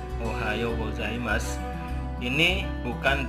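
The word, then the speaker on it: ございます: Gozaimasu tetap tulisannya kalau dalam huruf hiragana ini su. Jadi saya tuliskan huruf romaji atau alfabet itu tetap su juga, tapi cara bacanya boleh gozaimasu, boleh gozaimasu, boleh gozaimasu.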